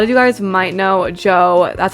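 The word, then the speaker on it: Djo: A lot of you guys might know Joe, that's how it's pronounced, DJ O.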